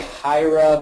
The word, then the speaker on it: Hiera: pronounced a million ways I say hierra because it sounds like hierarchy kind of and that's the idea